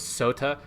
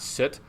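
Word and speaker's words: soote: So it's sota, not soot. Even that, like that sota is not soot, it's sweet.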